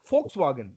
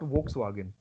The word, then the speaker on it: Volkswagen: So suppose you have a word where V and O is there. How would you read this? Fo. Fo. No, fur nahi liya. Fur. Okay. Fa. Fo. Fur, Fo. not fur. Fur. Fo. Fo. And so that's why Volkswagen and not Volkswagen.